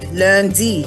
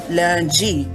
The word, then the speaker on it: lundi: Day of the week, lundi, like with a D, but in Michif French we say lundi, like it's G.